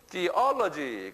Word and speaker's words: theology: 어디에 액센트가 있어요? theology, 어에 있어요. 예, 여기에. 그래서 theology 그래요.